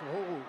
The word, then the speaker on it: Rojo: Alors ça s'écrit Rojo et on nous dit que ça se prononce Roro.